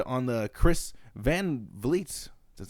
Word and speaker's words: Chris Van Vliet: She even used what Bayley said on the Chris Van Vliet, that's how you say his name, channel, when